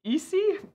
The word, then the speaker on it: Icy: interesting one was um I see why like icy but it's pronounced easy and it's short for